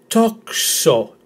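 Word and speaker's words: τόξο: So toxo, toxo, with the emphasis in the first syllable.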